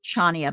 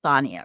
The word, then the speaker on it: Chania: I think it's it's it's looks like it's supposed to be Chania, but I think they pronounce it Thania or something.